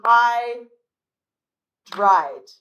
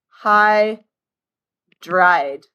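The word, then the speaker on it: hydride: But remember, the names are only going to have two syllables. So, it's going to be high dried. Hy dried.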